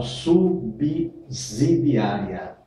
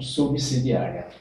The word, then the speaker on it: subsidiária: coloca o nome Calma Vamos devagar essa subsidiária da púa e até tudo no direito sempre tem exceção também no português não fica não foge essa regra e muitas pessoas falam subsidiária ess s com som de zer e na